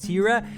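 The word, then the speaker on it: Thira: The two main ones that you'll probably focus on during your trip are the region of Tira. It's a little difficult to pronounce things there, get used to it, but it's spelled T-H-I-R-A.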